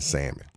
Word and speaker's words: salmon: to bhujette o--'s right they will pronounce the L in salmon they will and they